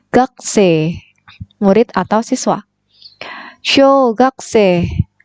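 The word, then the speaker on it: 学生: atau siswa Gotze kekesih tulisannya memang gakusei gakusei Tapi bacanya punya ini tidak terbaca kemudian Ibi belakang terbaca e-jade nya ini panjang c jadi gak C murid atau siswa yogs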